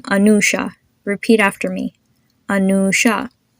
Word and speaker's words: Anusha: Anusha. You have the U, which is pronounced as a double O.